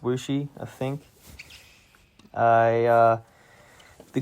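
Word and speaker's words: Wuxi: Looks like Woopsie, but it's pronounced Wooshi.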